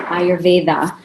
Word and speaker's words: Ayurveda: imagine am i pronouncing it right yes I pronounce an Ayurveda a lot of people say I are V dot here okay perfect so dr.